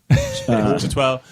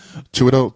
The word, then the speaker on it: Chiwetel: I pronounce his name wrong every time. Chitwell. Chiwetel Chiwetel.